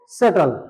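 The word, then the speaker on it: subtle: तीसरा लेते हैं हम एस यू बी टी एल ई। इसको बोलेंगे दोस्तों सेटल।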